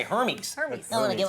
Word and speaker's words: Hermès: I just want to say Hermes. Hermes. I want to give it Hermes. Yeah, Hermes.